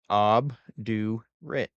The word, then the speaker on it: obdurate: Obdurate. So it's pronounced ob, do, rit.